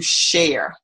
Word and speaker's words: share: We like to share. The SH sound is what I'm focusing on right now. Share. We like to share. Share. Share. And this looks like A-R-E, but it's pronounced like air.